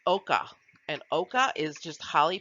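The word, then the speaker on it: ochre: that you see here to the right is pronounced oka and oka is just highly pigmented dirt it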